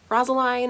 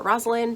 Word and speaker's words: Rosaline: a and it's centered around rasa line or Roslin depending on how you want to pronounce her name and she is